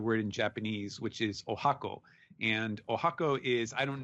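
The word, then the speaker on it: 十八番: number with the kanji for 18 so it's pronounced Oaxaca but it is written with with 18 and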